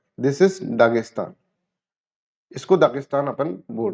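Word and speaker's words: Dagestan: ना land of mountain दगिस्तान को अगर आप प्रोनाउंस करेंगे तो इस तरह से होगा इसे प्रोविंस ऑफ द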